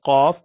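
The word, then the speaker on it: ق: And here the tongue goes up, and you pronounce letter qaf, aq, qa.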